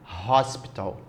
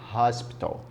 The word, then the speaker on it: hospital: da palavra com H Hospital você fala o h o H em inglês tem som de R Hospital Então se tem som